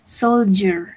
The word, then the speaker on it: soldier: Esta D no me va a sonar tanto como una D. Me va a sonar más o menos como una G. Soldier, soldier, yes? That is the correct pronunciation.